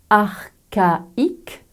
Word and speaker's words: archaïque: avec ce mot prononcé archaïque dans cet exemple comme dans de nombreux mots d'origine grecque le bloc c'est plus h se prononce que et pas che d'autres exemples archéologues orchestre